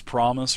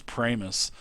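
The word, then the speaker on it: Pramas: Because I guess a lot of people think his name is Promise or something like that, but it is Pramus.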